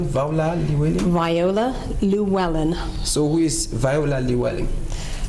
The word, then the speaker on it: Viola Llewellyn: The pronunciation, Viola Llewellyn? Viola Llewellyn.